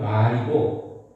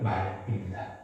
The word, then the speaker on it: 말: 배운 그런 지식에 의하면 입으로 하는 말은 말이고 타고 다니는 말은 말입니다. 차이를 아시겠어요? 타고 다니는 말은 짧게 이렇게 발음해야 되고 입으로 하는 말을 조금 길게 발음해야 된다고 그렇게 배운 것 같아요.